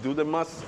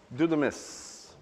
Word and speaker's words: δύναμις: it in greek delta upsilon do sometimes it's pronounced do the must but it's do the miss so the word do the mess what does